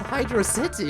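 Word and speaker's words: Hydrocity: Bro, you pronounce it wrong, dude. It's pronounced hydro city and not hydroity.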